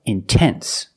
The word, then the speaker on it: intense: If you have a stress after the NT, if you have a stressed syllable after NT, then you have to pronounce the T. Example, intense. I put the stress after the NT, so I have to pronounce the T. I cannot say immense, no, it's intense.